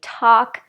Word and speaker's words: talk: so again with these forget about the L we don't say it at all the vowel is ah ah and we say talk chalk walk stalk okay I have one